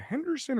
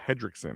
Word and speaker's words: Hendrickson: Is it Henderson or Hendrickson? Right. It's Hendrickson.